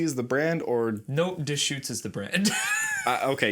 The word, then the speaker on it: Deschutes: if little squeezy is the brand or no dish shoots is the brand uh okay you you know how to pronounce it i did not i was going